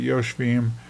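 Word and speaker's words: ישבים: the Shin, and so you still pronounce it yoshvim, but we're just trying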